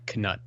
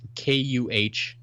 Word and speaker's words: Knut: They all agree that it's Knut. Okay. There it is. They're saying it's pronounced KUHNUT. Knut. Okay. Knut. So the K is not silent as it would be in our dumb English language.